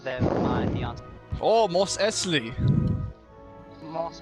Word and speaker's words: Mos Eisley: Oh, Mos Eisley. Most Isley, yeah. Eisley. That's how they say it, Eisley. It's Isley. But, I thought it's Isley. Yeah. Yeah. No, I'm not it's, from there, but it's Isley.